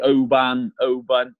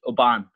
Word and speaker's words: Oban: People call me Oban. It's actually pronounced. My name should be pronounced Oban.